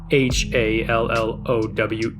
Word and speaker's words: Hallowe'en: Halloween is the modern spelling, but the more traditional way of spelling it includes an apostrophe between the E's, making it Hallowen.